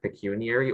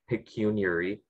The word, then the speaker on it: pecuniary: the word is pecuniary it can be either pecuniary or pecuniary it is an adjective